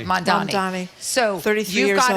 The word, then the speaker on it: Mamdani: Mamdani.